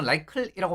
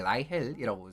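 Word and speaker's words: Reichel: 국내에서 라이클이라고 많이 읽습니다만은 한국식으로 이제 라이헬이라고 쓰는게 사실은 맞습니다. 물론 이제 독일식으로 또 표현하면 헬이랑 쉘이랑 그 사이에 어느 그 사이 언저리의 발음이 나오기는 하는데 일단 어쨌든 왜 그 토마스 투헬 생각하시면 그냥 바로 어 그 한 방에 또 좀 그 매칭이 될 거라고 생각을 합니다.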